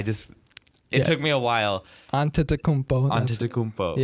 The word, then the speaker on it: Antetokounmpo: basketball and stuff, I used to see like Antetokounmpo, and I was wait, what the, like, that's a tongue twister.